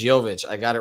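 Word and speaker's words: Jović: And first time ever, Brady, by the way, that I pronounced it as Jovic. So it's not Jokic, it's Jovic.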